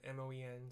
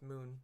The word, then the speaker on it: Moen: want to pronounce it you just said m-o-e-n so I was gonna say Moen but it's moon moon but tell me off